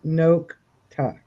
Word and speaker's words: Nokta: And the correct pronunciation of the machine is Nokta. Nokta.